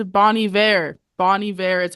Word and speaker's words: Bon Iver: met the drummer and I've been calling him Bon Iver my entire life and then uh Zach was like that's crazy it's Bonnie ve and I'm like who